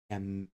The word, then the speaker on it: Camilo: This memorable name is pronounced Camilo and means helper to the and noble.